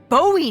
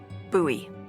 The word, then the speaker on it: Bowie: out this huge Rusty Bowie knife it's actually pronounced buoy what no it's like